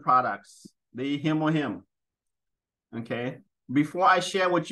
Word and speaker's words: Hemohim: It is called Hemohim, and it is spelled just as it sounds. H-E-Mo, M-O-Him, H-I-M.